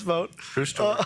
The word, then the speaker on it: Vought: your sister emailed in to make sure you pronounced your name, your last name right. So, Russ Vote.